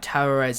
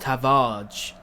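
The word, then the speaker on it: Tavares: the other day that terrarez is actually pronounced tavage because it's like portuguese which is very interesting and everyone's been pronouncing it wrong and i feel bad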